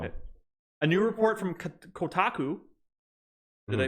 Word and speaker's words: Kotaku: A new report from Kotaku. Did I pronounce that right?